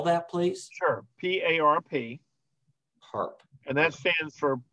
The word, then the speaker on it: PARP: Did you say PARP inhibitors? PARP inhibitors. So there are a variety. Can you spell that? Spell that, please. Sure. P-A-R-P.